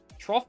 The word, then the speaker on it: troff: Troff is pronounced T-Roff.